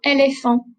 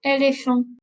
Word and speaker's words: éléphant: Je suis allée au zoo et j'ai vu un éléphant. Un éléphant. If you just notice, I'm not saying the T. I'm not pronouncing the T at the end of the word.